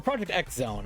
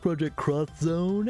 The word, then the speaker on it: Project X Zone: Or Project X Zone. I don't know exactly. I thought it was Project... Someone I think was like, I believe it's actually pronounced Project Cross Zone.